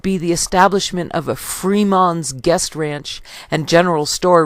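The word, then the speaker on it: Frémont: Freeman's or Fremont's but Freeman's guest ranch exactly as Fremont's father had pronounced his name the French pronunciation of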